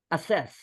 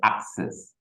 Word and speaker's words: access: good one teacher access so we wouldn't say assess no we say access very good and this